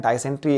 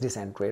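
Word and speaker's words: dysentery: डाइसेंट्री actually word है ये, लेकिन pronunciation is डिसेंट्री, right, डिसेंट्री कहना चाहिए बट चलता है डाइसेंट्री।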